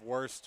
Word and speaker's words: Wurst: I'm a big fan of Wurst, which is here today. It's it's spelled W-U-R-S-T.